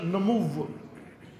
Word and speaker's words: نمو: اس کو کہتے ہیں نمو. کہ بسا ہوگا اردو تلفظ میں نمو, بس پڑھتے ہیں اس کو نمو, نشو, نشو اور نمو نہیں کہ پڑھیں اس کو, بس پڑھتے ہیں لوری لہجے میں اردو, نشو اور نمو, نشو نما, نشو نما بڑھنا.